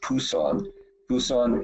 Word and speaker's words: Busan: For example, I'm leaving on Monday to go to, it's pronounced Busan in South Korea, on the southeast tip on the Sea of Japan.